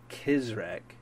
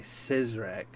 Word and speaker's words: CizreK: It's pronounced CizreK. A lot of people say CizreK, which you're not wrong. Grammatically, you're right. Saying CizreK is how you would read it.